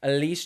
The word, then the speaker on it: Elise: uh and Leia Jansen Alice Jones Elise Jones that's how you say it sorry Elise Jones and Leia Jansen